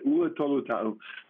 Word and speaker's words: Ula Tolutau: Ula Tolutau.